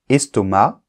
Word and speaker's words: estomac: une astuce par exemple estomac on ne prononce pas le C et moi je t'ai